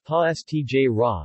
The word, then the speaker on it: Pastiera: pass Tierra napolitana pronounced pause TJ rah Neapolitan ha s TJ